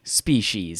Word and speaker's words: species: big old box and it says sp s-p-e-e she's s-h-e-e-z species is that right yeah i'm going